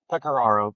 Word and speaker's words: Pecoraro: Pecaro.